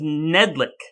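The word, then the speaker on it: Knedlik: how you pronounce it i thought it was nedlic k-n-e-d-l-i-k oh maybe i missed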